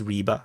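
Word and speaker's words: Rybar: information is coming from the pro Russian source riba and U and for is also it's actually pronounced as Reba I juste prefer to call them RBA so and over in the southern flank Russian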